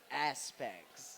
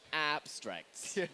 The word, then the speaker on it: Aspects: If you're just joining us, we are going to be watching semi-finals game two against Fate and Aspects. Aspects. Don't say it wrong. is aspects, not abstracts.